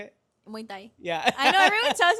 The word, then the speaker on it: Muay Thai: Muay Thai. How do you say it? Muay Thai.